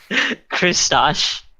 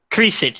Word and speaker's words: Kriesich: Christosh. Is that how you say it? Kriesich. I forget. Kriesich, that's right. It's German.